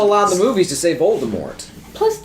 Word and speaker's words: Voldemort: the author says hey voldemort but they still allow the movies to save voldemort plus spell to the t at the end well it could be a silent letter cyanide's a dumb but